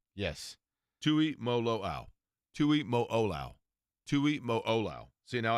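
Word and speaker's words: Tuimoloau: I mean, I wrote it down phonetically as well, but Tui Mo Lo'oau. Yes. Tui Mo Lo'oau. Tui Mo Olau.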